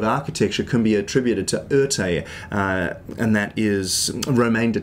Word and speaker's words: Erté: can be attributed to Oerté, and that is Romain de Tirthoff, who had the initials RT, was renamed or kind of had the nickname Oerté because of RT being mispronounced or repronounced in French, you might say.